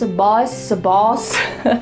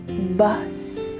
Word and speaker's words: bus: So I want to make sure you're not saying bus boss. Make sure you say bus.